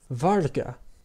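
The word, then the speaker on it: Vargha: And finally, it acts as a silent component of a diphthong, as in the name Varga, spelled V-A-R-G-H-A.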